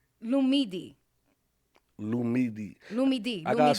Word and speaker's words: Lumidee: No, it's the right way is Lumidee.